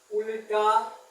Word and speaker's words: उल्टा: ठीक है, किसी शब्द का उल्टा, बोलते हैं उल्टा लेकिन लिखते हैं पूरा ल। आधा ल वो प्रोनाउंसिएशन में होता है लिखा, लेकिन लिखाता है ये पूरा ल।